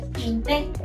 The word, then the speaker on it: pinté: Ahora, conjugando en pasado, refiriéndome a un pasado inmediato que sería el día de ayer, digo yo ayer pinté. Con acento en la E.